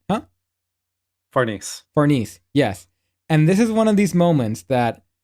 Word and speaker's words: Farnese: And then the head character takes off the helmet and she says her name is like Farnes or whatever. I think No, I'm pronouncing it Farnese. right. Huh? Farnese.